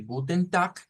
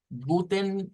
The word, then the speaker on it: guten: vamos vamos a usar la palabra guten está fácil de pronunciar esa no está muy enredada es casi como sonaría en español guten y luego decimos gut eso de guten es para decir buenas